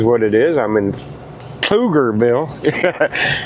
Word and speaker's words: Pflugerville: I'm in Pflugerville. It's Pflugerville. The P is silent, obviously. So it's Pflugerville.